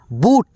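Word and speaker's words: but: eight B यू टी बूट क्या पढ़ेंगे दोस्तों बूट नहीं नहीं भाई नहीं गलती हो जाएगा यानी यहां पे यू का जो उच्चारण है अ के रूप में आएगा ठीक है दोस्तों तो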